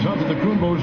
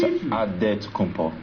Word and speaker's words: Antetokounmpo: In a real way, you gotta say with a D, so it's Antetokounmpo. But in the Greek way, you say with the NT, like Antetokounmpo.